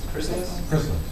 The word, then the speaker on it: Chrysalis: Chrysalis?